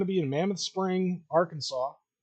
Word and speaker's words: Arkansas: you it says AR Kansas I don't see a w in that name I that that that's confused me for decades but whatever R Kansas Arkansas uh yeah so tickets